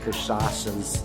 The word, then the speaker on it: cachaça: This place has like a million different types of cachaça is how you say it, which are what they use to make the caipirinhas.